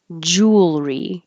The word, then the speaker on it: jewelry: word hiccup hiccup jewelry so I guess I usually spell it the way it sounds with just a u l but it is actually the exact same sound just take out this e and have Jewel because we're dropping the middle syllable jewelry making it two syllables jewelry make sure you hold your tongue in the L position long enough that it can be heard before you pull it back for the r jewelry if you go